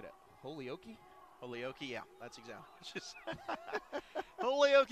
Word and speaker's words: Holyoke: It's pronounced Holyoke. Holyoke, Colorado. That's where Cade Killen's from. What did you originally say? I think I said it. Holyoke?